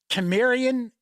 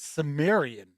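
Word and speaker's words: Cimmerian: than two i've heard chimerian and i've heard sumerian i always thought it was sumerian even though it's a c you pronounce it like an s but i could be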